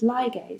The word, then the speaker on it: ligase: So the way I like to remember this is ligase, so it sounds like the word ligate, right?